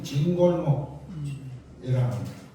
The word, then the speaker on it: 진골목: 아 그게 그거였는데 요리 이제 진골목이 긴 골목이 있어서 긴 골목이라고 해서 경상도 우리 우리 발음으로 진골목이라 하고 종료는 지금 현재 요걸 종로 하잖아요.